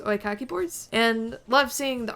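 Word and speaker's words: oekaki: I think it's pronounced oikaki boards.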